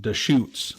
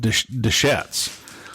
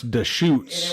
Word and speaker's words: Deschutes: it's actually pronounced Deschutes. I always said Deschutes, but it's Deschutes.